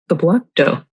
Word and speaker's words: piblokto: Have you ever heard of piblokto? How do you spell it?